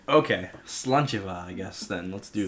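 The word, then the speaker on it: sláinte: a i yeah right slancha is how you say that VA slancha if you Google it m ha a I is v g doesn't make any sense for pronunciation verus spelling okay slancha I guess then let's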